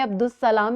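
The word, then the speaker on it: عبد السلام: इसमें अलिफ और लाम की आवाज़ जो है बोलने में नहीं आती, मादूम हो जाती है, साइलेंट हो जाती है, बिल्कुल भी अलिफ और लाम की आवाज़ नहीं आ रही। लेकिन लिखने में अलिफ और लाम शामिल है, बोलने में अब्दुस्सलाम इस तरह लिखा जाता है।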